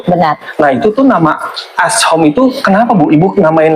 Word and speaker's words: As'HOME: Jadi asom itu sebenarnya plesetan dari nama saya sendiri tadi kan. kan kalau dibilang as home kayaknya susah untuk diucapkan gitu. Jadi diringkaslah jadi as gitu.